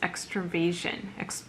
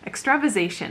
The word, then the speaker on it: extravasation: one of which is extra vision extra ization sorry mispronounced that one extravasation also known as diabetes